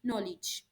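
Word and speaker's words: knowledge: For example नॉलेज, नॉलेज start किससे होता है? के एंड नो। तो के जो है साइलेंट है, लिखा जा रहा है लेकिन पढ़ा नहीं जा रहा, इसलिए इंग्लिश को अनफोनेटिक लैंग्वेज कहा गया है।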